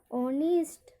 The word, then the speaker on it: honest: यहाँ पर HONEST, यहाँ पर एच साउंड, यहाँ पर एच भी क्या है, एच का उच्चारण नहीं होता है। हम इसको पढ़ेंगे ऑनेस्ट, ऑनेस्ट, ईमानदार।